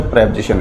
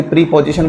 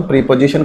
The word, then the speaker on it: preposition: तो इसको कई विद्यार्थी प्रीपोजिशन बोलते हैं, लेकिन एक्चुअल में ऐसा नहीं है दोस्तों, प्रीपोजिशन कोई उच्चारण नहीं होता है। इसका जो राइट प्रोनंसिएशन है वो क्या है? प्रेपोजिशन।